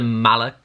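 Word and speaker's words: Malach: I'm not sure if I'm pronouncing that right. It's M-A-L-A-C-H. I'm assuming it's pronounced Malak. And these are like some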